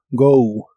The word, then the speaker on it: go: La O de esta palabra se pronuncia como OU. Go, go.